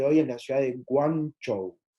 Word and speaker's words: Guangzhou: En el idioma mandarín, como se conoce hasta el día de hoy, es la ciudad de Guangzhou. Guangzhou. Muy importante las pronunciaciones, porque si no se pronuncia bien, estamos hablando de lugares completamente distintos.